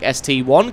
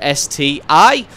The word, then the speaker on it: ST-I: my pronunciation of the name of this tank ST1 claiming that it should be pronounced STI as that is indeed a letter I after